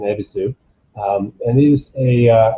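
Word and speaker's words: Yebisu: the ebisu brand uh the y is silent it's an ebisu and it is a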